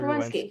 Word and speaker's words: Werenski: Zach Oh, Zach Werenski. Ruwensky. Thank you for pronouncing it.